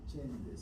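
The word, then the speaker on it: Csendes: Entonces esa cirugía se llama cirugía de Chendes. Se escribe cirugía T C, perdón, C e N d e S.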